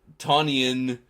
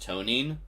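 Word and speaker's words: Tonijn: Ton Tonian herself was decommissioned in January 91 and is now a museum ship. Oh, while subs usually strike from below, Tonian can also strike from above. It's pronounced Tonine.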